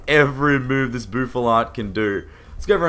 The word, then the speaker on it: Bouffalant: I used to say like Buffalant, but I think it's Buffalant.